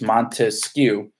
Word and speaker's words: Montesquieu: Our memory clue in class for Montesquieu was 3 syllables. Montesquieu, 3 branches.